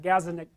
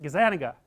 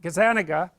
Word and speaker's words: Gazzaniga: neuroscientist named gives that Gaza Nick I don't know how to say his name Gaza that's wrong is that Gazzaniga yeah I think that's it anyways he did some